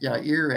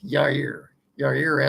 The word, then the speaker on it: Jaire: Wide receiver Romeo Doubs, linebacker Ezra Cooper, and quarterback quarterback Yair Alexander, Jaire. That's Yair Alexander. The J is silent.